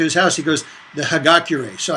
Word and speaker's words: Hagakure: When I went to his house, he goes, the Hagakure. So I may have mispronounced that one.